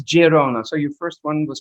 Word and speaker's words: Girona: israel is good um in spanish it's gerona and in but the local language is catalonian and that's girona so your first one